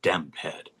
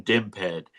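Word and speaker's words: DMPED: Half the people in the city say DIMPED and half the people in the city say DEMPED. And I'm team DIMPED. So I'm glad that you said DIMPED because to me, that's the way that abbreviation should be pronounced.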